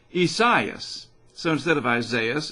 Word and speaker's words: Isaias: finally figured it out instead of just calling it isaiah's it's kind of the portuguese version isaias so instead of isaias